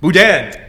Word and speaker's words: boudin: was forgive me but is the pronounced boudin budae blue bat yeah one more time okay boudin dad is amazing so what